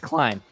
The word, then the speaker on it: Kline: Clean. I couldn't remember how to pronounce Clean.